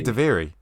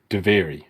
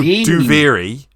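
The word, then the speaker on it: Duviri: no they I I spell it how they pronounce it it's duv yeah they say they say daviri devary devary not not they don't go too very no they say daviri devari devari anyway very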